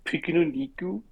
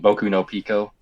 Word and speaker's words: Boku no Pico: have you ever watch Piko niku you didn't say it right you mean Boku no pico oh so you have